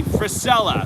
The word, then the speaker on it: Frisella: andy thank you josh andy how do you pronounce his last name annie fred andy frisella that's what it is yeah andy priscilla um